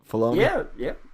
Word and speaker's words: Filoni: as we know Filoni, I'm saying it right Filoni?